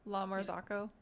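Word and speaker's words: La Marzocco: Lamarzico. Lamarzico. How do you say it? Lamarzako.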